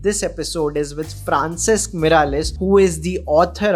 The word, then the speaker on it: Francesc: Am I pronouncing your name correctly? Francesc. Yes, very well, Francesc.